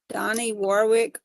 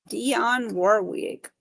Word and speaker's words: Dionne Warwick: Donnie Warwick, Hermits, some more bands at the state fair up there. Dionne Warwick. Oh yeah, I definitely said her name wrong a while ago.